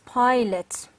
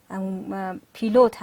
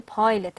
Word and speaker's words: pilot: Number 1 is pilot. Pilot پیلوت هست که ما شما پیلوت میگیم ولی پایلت هست اصلا تلفظش.